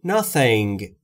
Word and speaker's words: nothing: I know nothing. I know nothing. Nothing یعنی هیچ چیز. تلفظ تی اچ هم اگر دقت بکنید، زبون پشت دندونهای بالا سعی میکنید بگید سمیه. س س ف ف. Nothing.